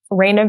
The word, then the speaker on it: Raina: I am Raina Virginia on everything. It's spelled like rain with an A on the end, and then Virginia like the state.